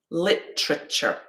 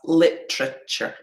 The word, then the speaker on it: literature: with literature okay so if i say this again literature we've got three syllables yeah the main stress is on the first okay sure and there we've got our schwas literature yeah take a minute